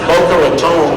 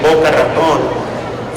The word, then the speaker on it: Boca Raton: It's pronounced Boca Raton, but it's actually Boca Raton. For those of you who know Spanish, it literally means the mouth of the rat.